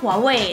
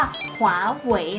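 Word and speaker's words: 华为: เรียก กัน นะ คะเรา จะ ไม่ พูด ว่า Huawei แต่ ว่า เรา จะ พูด ว่า ขวา เหว่ย นะ คะ ใช่ ค่ะ อัน นี้ คือ เสียง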